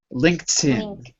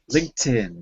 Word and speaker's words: LinkedIn: I know it looks like linked but it's pronounced linked LinkedIn LinkedIn LinkedIn good LinkedIn is extremely professional and easy to